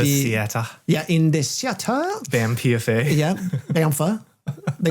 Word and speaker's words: BAMPFA: And you were correct in your pronunciation, BAMPFA.